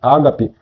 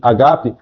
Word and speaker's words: agape: Veja que o amor bíblico, o amor agape, nós pronunciamos ágape, mas a palavra no grego pronuncia-se agape, não é um sentimento, é uma decisão.